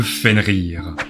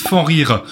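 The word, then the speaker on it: Fenrir: parle bien sûr de fen rir alors juste personnellement je dis fen rir mais certains disent fan rire je sais pas quelle est exactement la vraie prononciation frire nous vient donc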